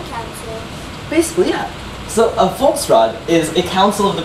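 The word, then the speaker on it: Volksraad: So it's pronounced with a T. Volksrad. Not with a V sound, but it's spelled with the letter Z, not the letter D. T. Yeah. So the D makes the T sound.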